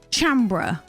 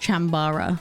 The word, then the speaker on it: Chambara: physical condition don't laugh chambra basically chambra is what you can use to play if you're sad you're not a jedi my producer just told me it's it's pronounced chambara and by producer i